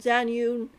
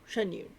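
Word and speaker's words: Xianyun: Which, again, I wouldn't be upset if I got a C1 Zanyun, or Zanyun, but, no, Shenyun. I say her name.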